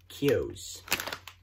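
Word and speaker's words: Keogh's: works I guess anyway let's open them up Kiyo's I looked at their there watched a little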